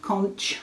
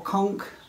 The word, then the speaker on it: conch: Weeks Dye Works thread in conch or conch. I've heard it pronounced both ways, but that's the colour that's used for the main body of the house.